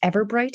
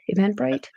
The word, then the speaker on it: Eventbrite: page and go to their, I think it's Everbright is how it's said. Eventbrite?